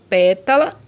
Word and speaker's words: pétala: proparoxítona olha os exemplos pétala matemática pétala lá tá vendo a primeira sílaba a o melhor né a antepenúltima sílaba que é a mais forte e matemática matemática também